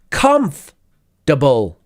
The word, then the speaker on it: comfortable: and this next one the pronunciation is comfortable comf double comp de bull so there is no ought no ought right it's just comfortable conf